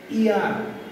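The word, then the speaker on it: heir: পরেরটি আমরা লক্ষ্য করব হি হ্যাজ ড্যাশ ইয়ার। এইখানে এইচ এর উচ্চারণ উজ্জ থাকবে, তাহলে এইচ এর উচ্চারণ যদি উজ্জ থাকে তাহলে হবে হি হ্যাজ ড্যাশ ইয়ার, তার একজন উত্তরাধিকারী আছে।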